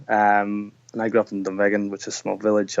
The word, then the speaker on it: Dunvegan: growing up in, I'm going to screw the pronunciation up, is it Dunvegan? Yeah, that's it, exactly. Dunvegan.